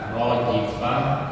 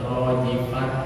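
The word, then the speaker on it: راجفة: ketika rojifah ketika berhenti jangan sampai ini ya jangan sampai ada yang menyebut rojifat ya tapi bacanya harus berubah jadi ha terkecuali bacanya di wasal misalkan yaumurifah baru dibaca Ya.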